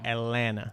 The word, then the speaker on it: Atlanta: don't really say atlanta you don't really pronounce the last t it's like atlanta what about what about